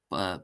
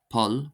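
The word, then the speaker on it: poll: I live in go the letter p this becomes bp and it's pronounced as a b sound for example the word paul paul paul paul paul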